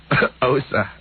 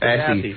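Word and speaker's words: Aase: Osa. Osa. Yeah, but it's spelled A-A-S-E. Assy. Osa. Assy. Can you say that, Osa?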